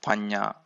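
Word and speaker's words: paññā: Note that panya is spelled P-A-N-N-A. It is pronounced panya.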